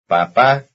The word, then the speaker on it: papá: For example, here is dad, and the new word with stress on the last syllable. Notice that it is the last syllable which has the stress. Number 40. Papá.